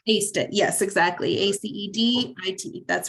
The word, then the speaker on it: ACED IT: Is it AC? Like I aced the course? Aced it.